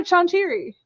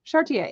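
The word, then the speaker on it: Charretier: City Beneath Her Feet, with the amazing Elsa Chantieri. Can I say her name? Chartier.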